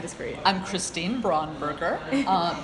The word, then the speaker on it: Braunberger: um nice and just for you I'm Christine braunberger uh b r a u n b e